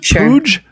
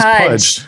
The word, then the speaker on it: Puj: Is it Pooge? P-U-G? Pudge. Pudge. It is Pudge. Like Why does it baby look like Pudge, but it is spelled P-U-J.